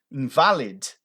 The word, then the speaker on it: invalid: Invalid. É assim que você fala essa palavra? Invalid. Não invalid. Para com isso. Aquele i no final ali, ele tem som de e. E. Invalid. Invalid.